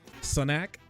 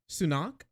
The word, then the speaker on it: Sunak: ain't happy what are you Scottish or something Sonic is that how you pronounce that guy's name sunak sunak recognition of trans people is driven at